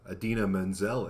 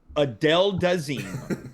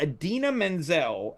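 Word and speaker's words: Idina Menzel: you have to Adina Menzel it. let it Oh, go. let it go. Yeah. Just like a wrap dress. Or if you're John Travolta mispronouncing her name at the Grammys, Adele Dazeem.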